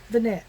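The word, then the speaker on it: Venette: Vanette, V-E-N-E-T-T-E.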